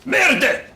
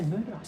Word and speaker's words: merde: Merde! Sorry, it's pronounced merde. Eh? Pronounced merde. Did I say murder? It's merde, I said isn't it? merde. Merde. Sound like murder.